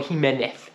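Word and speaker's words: Jiménez: is the fa Striker Santiago Jimenez all right or heenez as the pronunciation is absolute baller apparently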